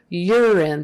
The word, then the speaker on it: urine: urine sample lovely okay urine that first you now is um pronounced with kind of a y in front of it you are your your er so y e r your even though it's spelled you are you're in and um even though there's an e on the end that is still a short i sound urine you're in urine